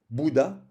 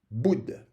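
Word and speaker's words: Buddha: Par exemple, on ne dit pas Bouddha, on prononce Boud.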